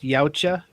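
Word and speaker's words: Yautja: And they're pronounced Yaucha.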